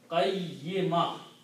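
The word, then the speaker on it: قيمة: When you stop, you don't continue, you do not pronounce noon sound and do not pronounce ta sound, but you just change that into a ha. So it will become qayyimah.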